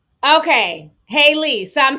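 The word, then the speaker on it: Halle Bailey: Okay, Haley. So I'm saying it right now. Okay, good. Child. Y'all done wrote the pronunciation like literally 50 different ways.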